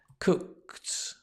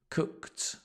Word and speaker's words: cooked: to use the past and to pronounce it right cooked cooked here it's a t sound I often cooked cooked